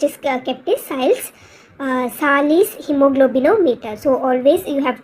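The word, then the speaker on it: Sahli's: uh instrument which is kept is SES uh Salis hemoglobinometer so always you have to pronounce correctly s Salis hemoglobinometer so this is usually a brown bottle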